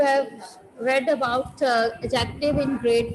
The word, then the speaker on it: adjective: Now comes adjective. Adjective बेटा, इसमें D silent होता है, इसको हम एडजेक्टिव बोलते हैं.